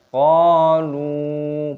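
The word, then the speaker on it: قَالُوا: Panjangkan qafnya, ada tanda alifnya, matobi'i, dipanjangkan dua ketukan. Qalu, panjangkan lamnya, ada wawu sukun.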